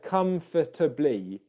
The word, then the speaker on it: comfortably: blee three syllables okay what tends to happen in english is you often get schwa sounds in unstressed syllables that can sort of disappear um in quick speech so instead of comfortably